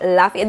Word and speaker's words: Lafayette: Anyways, Lafayette is sexy. Okay, it's called Lafayette Street. I hope I'm saying that right. Lafayette.